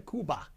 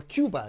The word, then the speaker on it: Cuba: gonna take a journey to kuba or Cuba is they some people pronounce it and this is